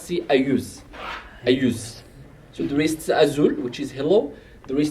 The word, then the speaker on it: Azul: But it's not really Azul, it's just Azul. You have to pronounce the vibrant of Z.